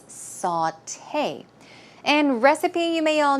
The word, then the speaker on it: sauté: a way of or preparing food and it's pronounced sauté sauté it's not saute it's sauté and recipe you may all know but just